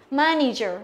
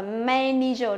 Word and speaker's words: manager: Manager, không đọc là manager, đó là manager. Đây cũng là âm e bẹt đấy nhá.